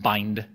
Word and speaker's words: bind: And so we have this kind of injection operator, it's pronounced bind, which does that.